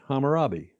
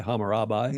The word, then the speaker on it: Hammurabi: Didn't I pronounce that right? Hammurabi. Yeah. Hammurabi. Did I say by Hammarabi?